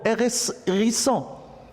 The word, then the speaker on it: hérisson: Et je vois aussi H, mais je ne la prononce pas.